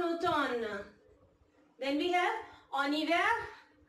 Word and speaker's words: automne: We don't pronounce this M, en automne.